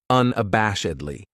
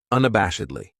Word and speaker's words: unabashedly: This adverb has 5 syllables, and the stress is on that third syllable, that bash, unabashedly. That second syllable has that schwa, that sound, unabashedly.